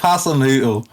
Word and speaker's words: Hasenhüttl: Ralph Hasenhüttl?